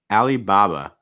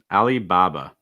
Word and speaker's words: Alibaba: bay bay bear bear alibaba alibaba and again we have that uh sound at the end notice before that we